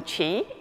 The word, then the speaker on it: Chi: and you can call me Chi it's the same pronunciation as the Chinese word for energy so I'm very privileged